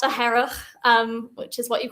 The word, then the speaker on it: Hearach: So you really got to get your throat in there, like really. Like And really actually, any it's, phlegm up. and that's me as a non-Gaelic speaker, but I've even noticed on the island, even within Gaelic speakers, they pronounce it slightly differently. So some would say like Hearach, and some would say more like Hearach.